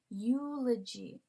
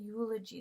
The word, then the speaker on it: eulogy: e or this one eulogy it's pronounced like a like a y okay eulogy so that's actually a consonant sound um another popular example